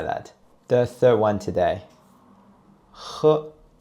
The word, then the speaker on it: h: And the difference between H and Ha is that we produce a schwa sound in Mandarin. So it's more like H. And when you pronounce H, you can feel there's friction in your throat.